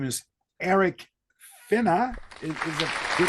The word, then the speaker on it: Finnas: His name is Eric Finna. Is it good pronounced?